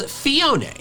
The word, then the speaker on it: Phione: The official pronunciation is Fiona. Fiona. I actually learned this while making this video, but it's based on Cleone, also called sea angels.